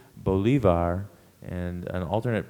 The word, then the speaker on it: bolivar: PR pronunciations it's uh the primary pronunciation is Bolivar and an alternate pronunciation is Bolivar b o l i